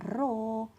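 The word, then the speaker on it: ρ: massa jenis dengan lambangnya roh ini ROM membacanya bukan huruf P ya dia memang mirip seperti peyang ditulis miring tapi roh bukan huruf P sekali lagi roh bukan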